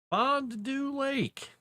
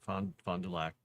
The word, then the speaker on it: Fond du Lac: They're like, Fond du Lake. Like, no, Fond du Lac. Fond du Lac.